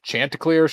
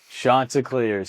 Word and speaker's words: Chanticleers: Is it Chanticleers? Chanticleers? Chanticleers. Chanticleers. Shot. Shot. Shot. on ESPN was saying it wrong. Chanticleers.